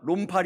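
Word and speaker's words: 롬팔: 론팔 28 팔 이팔 예 발음을 잘하셔야 돼 논팔 아니고요. 욕하는게 아닙니다.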